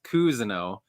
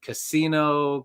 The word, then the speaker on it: Cousineau: My last name's Cousineau, but it's spelled cousin with an O at the end, and I get Casino, Cousino. Like no one ever says my name right, so I get that for sure.